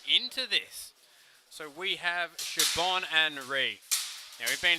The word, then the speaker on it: Siobhan: we are straight into this so we have shibon and ree now we've been through this before siobhan in the uh australia colours and re in the black now what's interesting fact it's pronounced siobhan what this is is this a sword